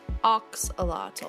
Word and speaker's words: Axolotl: a two minute video in English it's commonly pronounced Axolotl and oxalato oh it's Axolotl oh